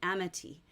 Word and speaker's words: Amity: And the name of the French ship where they find the egg is called the Amity. And that's, I'm anglicizing the pronunciation, but it means like friend, and like friendship, like it's a French name meaning friend.